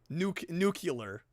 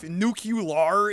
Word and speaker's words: nuclear: That's how I've always pronounced it. New clear is insane. No, you don't. Nuclear.